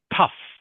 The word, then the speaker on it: tough: And just remember this word here, Ling Chi, is pronounced tough.